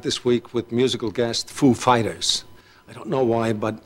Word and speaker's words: Foo Fighters: like he said he asked us if the accent was on Foo or Fighters Foo Fighters and we know who is like of course we know how he speaks and we said uh the accent is on Fighters actually so he he goes